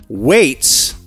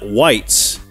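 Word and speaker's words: Weitz: We've been writing you for birthdays for the last 10 effing years, and our last name is pronounced Waits, not Whites.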